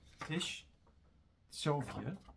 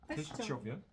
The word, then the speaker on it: Teściowie: Teściowie. Teściowie. Also spricht man das C nicht als C aus, sondern man nimmt das rein ins Sch. Ja. Tsch mit Tsch.